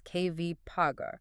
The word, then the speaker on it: KVCOG: we are going to make sure we pronounce this acronym correctly. Yes, please do. They are working with the KBEC Valley Council of Governments known as KVs. That's KV Paga.